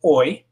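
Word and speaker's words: hoy: If it's O, it's oi. And remember, the H is completely silent in that word, so it's just oi.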